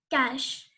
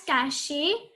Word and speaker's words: cache: Cash. It is not pronounced as cachet or cake. It is pronounced as cash.